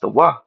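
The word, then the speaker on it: תו: Tav. Tav. but in the Hebrew it's pronounced Tawah.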